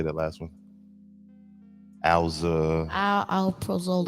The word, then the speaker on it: Alprazolam: Alprazolam. Alprazolam.